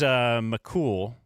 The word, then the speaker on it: McCool: But it is McCool, like he's cool.